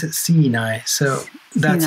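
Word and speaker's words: Siinai: the how you pronounce the band well they pronounce it sinai so that's how i pronounce it because it's their band but yeah it's just how the fins pronounce sinai c9 c9 and you did a couple of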